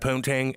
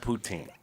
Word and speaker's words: poutine: to say it Jimmy you're gonna eat that puntang and go in the world it's called poutine and then you're gonna go